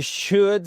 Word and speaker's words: should: devrais, nous devrions you should sleep more. Et là, vous voyez à chaque fois, il y a le L qui est pas prononcé.